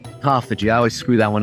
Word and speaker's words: autophagy: Autophagy? Autophagy.